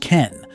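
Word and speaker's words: 拳: See, the Japanese kanji for sword is pronounced ken. And guess what? The kanji for fist is also pronounced ken. Totally different kanji, but the exact same reading.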